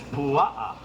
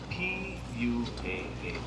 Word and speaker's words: pua'a: Pig in Hawaiian is pua'a, P-U-A-A, pua'a.